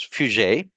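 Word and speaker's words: Piaget: a g e t p i a g pronounced as fug and V gotsky these are all great uh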